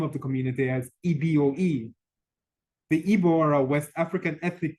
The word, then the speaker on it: Igbo: evil spelled Igbo which despite its spelling is pronounced in the same way as the anglicized rendering of the word included in the name of the community as eboe the ebora West African